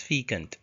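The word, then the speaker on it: fecund: Uh the the first word is fant. Yes, you can see the spelling f e c u n d. It is pronounced as fant.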